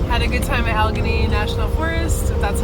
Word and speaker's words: Allegheny: made we had a good time at Allegheny National Forest that's how you say it yeah